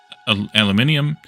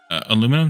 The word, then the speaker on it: aluminium: start processing things like aluminium uh or aluminum depending on how you want how you want to pronounce it or this is aluminium